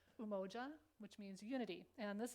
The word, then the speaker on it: Umoja: And so the first one, and Nina was good at helping us pronounce it, that it's Umoja, which means unity.